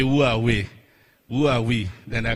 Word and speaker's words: Huawei: the gentleman said huawei a lot of people say how do you pronounce that name so i'm going to help out today right so it's hard way so we will say who are we who are we then